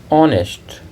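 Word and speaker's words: honest: था Arvind was एन ऑनेस्ट क्योंकि ऑनेस्ट में उच्चारण वल साउंड से शुरू होता है एन ऑनेस्ट लीडर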